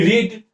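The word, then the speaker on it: read: अब देखिए मैं आपको पूछूंगा कि रीड रीड का क्या हो जाता है? रेड हो जाता है। रेड हो जाता है। स्पेलिंग वही रहता है। सिर्फ प्रोनाउंसिएशन बदल जाता है।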